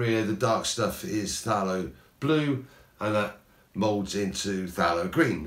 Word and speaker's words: phthalo: blend really well and it's spelt p h t h a l o there's like loads of constants therefore later on when